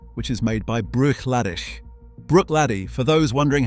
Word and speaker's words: Bruichladdich: Bruichladdich, for those wondering how to say it.